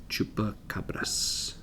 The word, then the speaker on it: chupacabras: basically yeah um yeah spanish pronunciation is chupacabras all right cool so